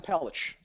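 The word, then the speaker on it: Pelech: Pon Andre Pon no p l e c pronounce that oh oh Adam pelich pelich and or gr or so Mayfield pelich or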